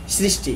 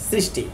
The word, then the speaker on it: সৃষ্টি: ব্যবহার করি সেখানেও আমরা দন্ত স এর সঠিক উচ্চারণ করি যেমন সৃষ্টি এখানে আমি কিন্তু সৃষ্টি এভাবে বলতেছি না হ্যাঁ আমরা বলব সৃষ্টি স্মৃতি স্পর্শ স্রোত শ্রী আশ্রম ইত্যাদি ওকে সমাসবদ্ধ